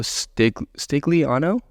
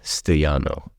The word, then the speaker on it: Stigliano: And he's Stigliano? That's how you pronounce it. Yeah. Oh, sweet. Stigliano. Is it Stigliano? Stigliano. Let's go. Yeah. Let's go. If you want to be legit, Stigliano.